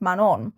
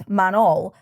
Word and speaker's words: Manon: and they tell her about this deity called Manon which I spent a large chunk of my life thinking was manol because they pronounce it so weirdly it's actually man on